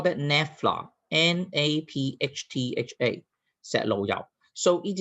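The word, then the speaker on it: naphtha: to how to pronounce a word how to pronounce the word now we call that nefla n-a-p-h-t-h-a set low-down so it is not the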